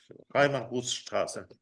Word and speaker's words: Reimarusstraße: Esto lo pronuncia bien, le voy a pedir ayuda. Seemannsheim, Reimarusstraße. Reimarustras.